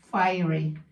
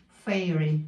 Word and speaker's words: Fairy: Spain fy fy Fairy Spanish say fy they pronounce fy but it's Fairy like fairy tails ha nakk pa more